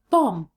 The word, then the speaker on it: bomb: know that pronunciation rule when the word ends in m b the b is always silent so words like bomb and lam if you found this